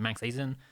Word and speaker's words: MANXAZN: No, so this channel, so right now this is MANXAZN, which is pronounced like Manx Azin, whatever you want to say.